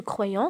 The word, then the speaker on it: croyant: Ce croyant. Ce croyant, c'est un nom qui se termine par la lettre T. Et comme vous remarquez, il ne se prononce pas.